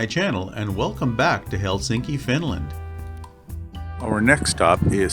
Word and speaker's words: Helsinki: a really nice view of the city of Helsinki and that's what it's pronounced Helsinki the landscape of Finland looks remarkably like the